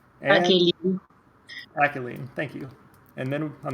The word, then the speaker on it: Akaelyne: Got this week 4 matchup between team yet another Bonk, where we've got Coxla piloting Alkaline, I believe that's pronounced, and Akaelyne. Akaelyne, thank you.